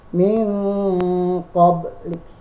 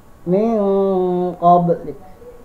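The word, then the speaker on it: مِنْ قَبْلِكَ: Contoh dalam kalimat min oblik. Min oblik. Seharusnya bacanya seperti itu. Tetapi karena ini adalah termasuk bacaan ikhfa, maka dirubah. Bacanya tidak seperti tadi. N-nya karena disamarkan. Jadi bacanya min qablik. Jadi ada MIN-NG. Qablik. Min qablik. Seperti itu.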